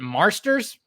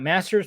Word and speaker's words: Marsters: okay so James uh Marsters is that how you say it Marsters not Masters Marsters um he was